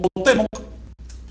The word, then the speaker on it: Cuauhtémoc: Por lo tanto, un término como Cuauhtémoc, si es náhuatl, no se debe acentuar. Porque en náhuatl hay un solo acento. ¿Cuál es este? Llano o grave. Penúltima sílaba para todos los plurisílabos.